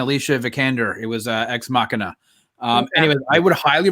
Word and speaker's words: Ex Machina: oscar isaac and alicia vikander it was uh ex machina um anyway i would highly recommend if anybody hasn't seen that it's spelled x machina for those who are like what but it's pronounced ex machina it is a fantastic movie directed by alex